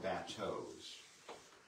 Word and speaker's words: bateau: The lower eastern shore watermen, until very recent years, would continue to call these bateaus, emphasis on the first syllable, the French word for boat, bateau.